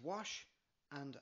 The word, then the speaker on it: Mhaise: Faoi, pronounced "fwee" The third word is Mhaise, pronounced "wash" and "ah" - "wash-a" And the last word is Dhuit, pronounced "gwitch" Go put it all together now.